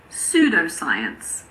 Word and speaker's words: pseudoscience: Well, we don't pronounce P if it comes at the beginning of a word before an S. For example, pseudoscience, psychiatrist, psychic, psychology. It's also silent in front